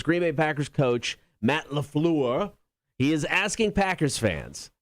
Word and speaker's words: LaFleur: How the coach, Matt LaFleur, wants to ban the wave. That's how actually his name is pronounced. If you say it LaFleur, you're a dickhead. You got to say it LaFleur.